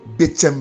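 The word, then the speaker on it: Betsem: Pour me suivre sur WhatsApp, vous cliquez mon nom, apôtre Betchem. Betchem s'écrit B-E-T-S-E-M.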